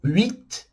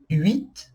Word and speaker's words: huit: Tem o huit, huit, não falamos o H, e o haricot, que quer dizer feijão.